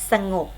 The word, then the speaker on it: สงบ: ต้อง ค่ะ อ่าน ว่า สงบ เรา เขียน สงบ นะ คะ แต่ เวลา อ่าน ออก เสียง สงบ สระ ออก เสียง อะ กึ่ง เสียง พยางค์ ข้าง หลัง อบ ออก เสียง เหมือน มี ของ หีบ มา นำ งง นะ คะ สงบ